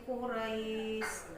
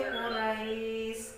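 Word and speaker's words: قريش: Maka membacanya harus li'ilafi Quraish. Ra itu kan ada ro berharakat fathah, kemudian diikuti oleh huruf ya berharakat sukun. Nah, jadi membacanya harus lembut. Li'ilafi Quraish.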